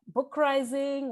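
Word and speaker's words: Bookrising: radical books collective podcast called book rising which rhymes with uprising and i'm so excited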